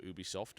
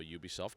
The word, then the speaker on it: Ubisoft: So Rayman Origins is a download-only game coming from Ubisoft, or Ubisoft, depending on how you want to pronounce them, and it is a very high-definition platformer in the style of the original Rayman.